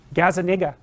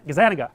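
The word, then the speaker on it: Gazzaniga: Gazaniga. That's wrong. Gaz Gazanaga. Yeah, I think that's it.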